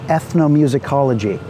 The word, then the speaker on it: ethnomusicology: He was a pioneer in the field of ethnomusicology. Ethnomusicology, that's a 7-syllable barn burner of a word.